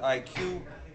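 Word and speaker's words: ICUE: Conference on underwater education acronym for which is the IC but you pronounce it IQ and everybody called it an IQ just like an intelligence potion and shortened down to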